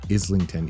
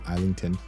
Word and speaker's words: Islington: think it's actually pronounced Islington even though I like saying isington I think it's Islington it's British I don't know anyway I'm